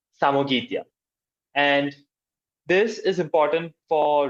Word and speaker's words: Samogitia: Uh it is pronounced as Samoitia. Samogitia.